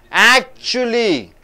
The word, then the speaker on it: actually: Actually, so how do you stress, where do you stress, actually should be stressed. For adverbs, the last syllable should be stressed. For adverbs, last syllable should be stressed. Actually, so chuli you have to stress, actually.